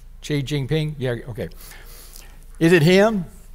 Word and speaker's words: Xi Jinping: Xi Jinping?